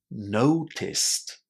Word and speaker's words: noticed: There is no extra syllable here with the ed. We pronounce this word as noticed.